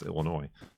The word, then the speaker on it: Illinois: cuz that's the way the word looks like it should sound. But if I'm just like saying it from memory then it's Illinois.